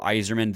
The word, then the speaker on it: Eiserman: love the kid is his last name is pronounced, even though it's spelled very differently, is pronounced just like Red Wings legend Steve Yzerman. You know, there's a lot of hype surrounding Cole Eiserman, and just to put